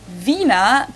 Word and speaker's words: Wiener: In German, we say vina. The German W is pronounced like an English V, and it usually refers to the sausage.